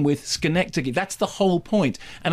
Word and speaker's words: Schenectady: I'm from New York, therefore I know the pronunciation of the town. Schenectady. Yes, but the film isn't called Schenectady. The film is called Synecdoche, pronounced Synecdoche to rhyme with Schenectady.